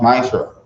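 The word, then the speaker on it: מעשר: It means 10 in the Hebrew and is pronounced Ma'asher.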